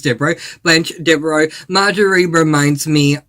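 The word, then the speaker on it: Devereaux: So Essie Cobb definitely reminds me of Blanch Deo. I keep saying her name wrong, but it is Dero.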